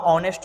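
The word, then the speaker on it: honest: इसका प्रोनाउंसिएशन जो होगा ऑनेस्ट होगा तो यहाँ पे एन हो जाएगा।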